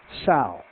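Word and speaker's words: Tsao: But what is new is brought to us by a gentleman, his name is Dr. Jack Saul and I'm pronouncing it I think correctly.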